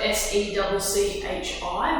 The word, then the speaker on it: Secchi: And it's spelled S-E-C-C-H-I, but it's pronounced secchi.